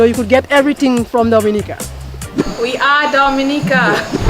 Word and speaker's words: Dominica: nature you know you could get everything from Dominica we are Dominica live yeah we love Dominica I hope you love it as well thank you we call it Dominica we call it Dominica it's called Dominica call